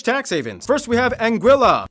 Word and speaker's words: Anguilla: havens first we have anguilla yeah that's how you pronounce it named after the spanish word for eel because the islands are